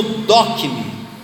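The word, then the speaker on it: δοκιμή: Mas a palavra experiência, quando Paulo cita, a palavra no grego se pronuncia como dokme.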